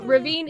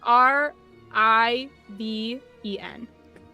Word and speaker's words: Riven: Uh, ravine is R I V E N. Oh, very close. Riven, but it's pronounced Ravine.